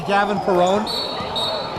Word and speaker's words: Gavin Perone: Did you say Gavin Perone? Yes, I did. Oh, okay, you said it right this time, huh?